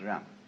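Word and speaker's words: 仁: fundamental virtue of a human being is called Yan spelled Jen for reasons best known to Chinese Scholars uh I don't know what they are but it's pronounced R and it's a character Chinese character that confucious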